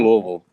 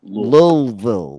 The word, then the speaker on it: Louisville: It literally sounds like you have something in your mouth when you're saying That's that. why I said It's like lullaby.